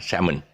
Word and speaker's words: salmon: real pronunciation is simon salmon salmon okay and uh don't ask me why the l is thick enough but that's how the british do it so we got to